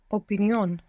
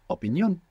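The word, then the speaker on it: opinión: we have opinion and in Spanish you're going to pronounce syllable by syllable making sure that you're pronouncing the vowels as they're written and you're going to put the accent on the end opinion opinion good passion passion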